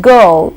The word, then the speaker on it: girl: sound to be articulated if you look at girl in spelling g i r l i and r together but there is no RW in pronunciation it's just the O go go similarly when